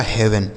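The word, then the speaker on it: heaven: दोस्तों हेल्थ ठीक है एच इ ए वी इ एन तो एच से हो गया दोस्तों ह इ ए का उच्चारण ए की मात्रा वी ई से व और एन से न लिखा गया आपका हेवन ठीक है तो आपने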